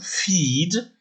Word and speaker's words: feed: Si vous dites par exemple feed, ça s'écrit F-E-E-D, eh bien l'orthographe E-E se prononce I.